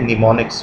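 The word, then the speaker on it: mnemonics: ये निमोनिक्स की spelling video lecture के वक्त भी आपको कही थी, ध्यान रखना है एम से शुरू हो रही है जबकि एम साइलेंट है। निमोनिक्स कोड पढ़ा जाता है और ये सिंबॉलिक ज़बान है।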